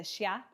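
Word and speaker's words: Xia: Chin Dynasty and then for a x you're going to get a sha so the first dynasty is X I A and that's the Shia and then C is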